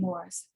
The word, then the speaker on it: Morrice: And I should mention that I'm using the Anglo-British pronunciation of the last name Morrice, because he was a